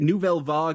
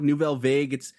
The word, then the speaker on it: Nouvelle Vague: It's Nouvelle Vague, Nouvelle Vague. It's a French.